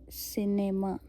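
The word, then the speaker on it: cinéma: अभी हम देखेंगे अ सी के आगे अगर ई आई वाई लगता है तो वो एस साउंड आता है। ओके से सिनेमा सिनेमा अभी क्या है?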